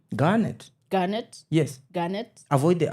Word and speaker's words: Garnett: Garnet. Garnet. Yes. Garnet. Avoid the R for your own for your own good. For your own good. Listen, I'm Central. The R is just Just say Garnet.